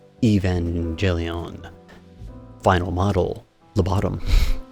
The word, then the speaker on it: Evangelion: CCS toys top right Evangelion final model the bottom sorry hard G right there but it is gorgeous